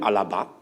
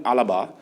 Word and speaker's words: Alaba: Now, Mukail, at an initial stage, we heard that David Alaba, I call him Alaba, as it's pronounced, but they call him Alaba.